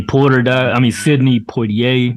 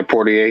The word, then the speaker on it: Poitier: But man, Sidney Poitier. Is that how you pronounce it? Poitier. Yeah, Poitier.